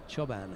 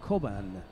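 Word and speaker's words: Çoban: originally yeah um and that c is pronounced as CH so choban however um she's German and in in Germany that se is co so so it's safo koban and the Turkish um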